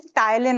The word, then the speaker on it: ptyalin: ठीक है, उसका another name is ptyalin also. Ptyalin, salivary amylase is also known as ptyalin. Ptyalin, P is silent.